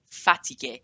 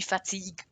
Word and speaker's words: fatigué: Je suis fatigué, not je suis fatigue or je suis fatigué. It's not good French pronunciation.